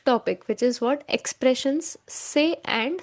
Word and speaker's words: c'est: See apostrophe est is pronounced as say.